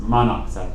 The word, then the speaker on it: monoxide: D nitrogen monoxide yeah when it's mon mono we don't say the whole word mono out we just monoxide like the one we're most familiar with is carbon monoxide right so we say it like that okay let's go to